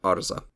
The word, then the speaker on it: harz: From them I learned the one Basque word I remember, harz, bear, though they pronounced it arza.